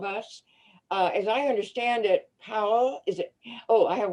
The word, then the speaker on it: Pau: Powell's So name? So it's spelled P-A-U. It's the first 3 letters of my name, and then it's pronounced like Pau. P-A-U, Powell.